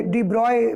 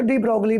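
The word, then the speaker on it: de Broglie: वैज्ञानिक तथ्य बहुत सारे लोग इससे इन्हें इनके डिब्रॉय भी बोलते हैं तो उच्चारण जो इसका होता है प्रनंसीएशन वह डिब्रॉय के नाम से भी आप कर सकते और आप चाहे तो डी ब्रोग्ली भी बोल सकते हैं जब इन्होंने यह सब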